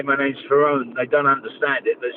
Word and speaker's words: Ferrone: mother did so so they changed the I to an E and pronounced it Fon but all my friends used to call me foni anyways so you know